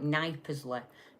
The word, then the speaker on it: Knypersley: Now, for all of you saying Knypersley, it's spelled K Y K N Y, so it's like Knypersley, uh if you're not from the area.